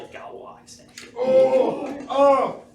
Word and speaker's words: Galois: Do we have to pronounce it like that? Yeah. Galois extension.